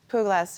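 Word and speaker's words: Puglaas: Now, I don't know if I'm saying this right, but is it Puglas? Is that how you say it? Puglas, it's a name that I was given by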